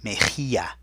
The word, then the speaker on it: mejilla: Mejilla has that rough H sound, so there's that J, M-E-J, and then the double L sound that sounds like a Y, mejilla.